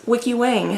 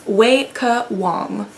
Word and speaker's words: Weike Wang: It is not Weike Wang, as I've heard most people pronounce it. It's Weike Wang.